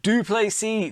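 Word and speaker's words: Du Plessis: Dricus Duplessis, the S is silent.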